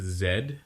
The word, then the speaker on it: Z: Because the new movie is Pokemon X and Y and Z. That's right. It's Zed, not Z. Fuck you, America. Everyone else knows how it's pronounced, just like how everyone else understands that